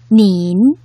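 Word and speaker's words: 您: 발음은 이렇게 되는데요. 어떻게 발음하나요? 닌이라고 발음하죠. 역시 원어민 선생님의 발음을 잘 들어볼까요? 닌, 어때요?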